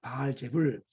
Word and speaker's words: 바알세불: 여러분, 여기에서 바알세불이 누굴까요? 바알세불은요, 원래 이 단어의 발음은 바알제불입니다. 바알제불.